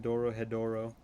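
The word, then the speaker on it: Dorohedoro: in like two episodes It's pronounced Doro hedoro watch monster already what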